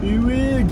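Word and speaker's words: Uig: Wig. That's how you say it.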